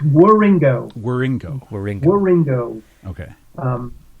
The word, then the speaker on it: Wieringo: um Telos tribute with Mike Rio did I pronounce that right where uh no but it's War Ringo wieringo Ringo Ringo okay um again I I